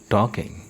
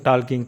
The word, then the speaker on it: talking: देखिए दोस्तों, ये जो टॉकिंग है, इसमें ये जो एल है ये साइलेंट है। इसमें हमेशा, जैसे अब टाक नहीं बोलना इसको, कभी बोलो सो टाकिंग ऐसे नहीं बोलना। इसका जो एल है ना, वो हमेशा साइलेंट रहेगा। तो हम इसे बोलेंगे TA। हम इसे लिखते हैं एल को, लेकिन जब हम इसको बोलते हैं तब हम इसका यूज़ नहीं करते।